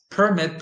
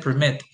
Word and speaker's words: permit: So you have the noun, which usually receives the stress on the first syllable, and the verb, which usually receives the stress on the second syllable.